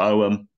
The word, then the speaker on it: Ogham: And that is purely because it includes Ogham as well as Latin, or Oum, however you want to pronounce it, which was also very faded as well, wasn't it?